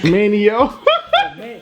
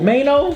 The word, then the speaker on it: Maino: Manio. How you say his name? Maino. Maino? Just think about it, M-A-N-O. Just act like the I ain't there. No I in Maino.